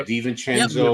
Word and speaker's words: DiVincenzo: Yeah, DiVincenzo.